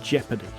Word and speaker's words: jeopardy: They might put their success in jeopardy. One last thing, be careful with the spelling of this word because it doesn't look the way it sounds.